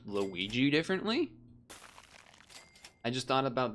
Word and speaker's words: Luigi: Try Luigi with a hard G.